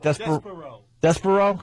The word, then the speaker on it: Despereaux: How do you say that? Despero. Because they spell it Despereaux.